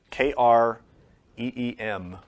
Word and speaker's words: Kreem: a mantra, which is cream. K R E E M or K R I M or K R Y M. You can spell it however you want. But it's pronounced kreem.